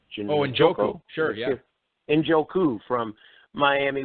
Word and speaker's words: Njoku: When drafters see some of these rookies, Howard, Evan Ingram with the Giants, how do you pronounce the kid with the Browns? David Njoku? Njoku, sure, yeah.